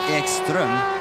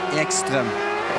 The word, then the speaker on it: Ekström: Matthias would say Ekström. Yeah. I would say Ekström. I can't tell the difference.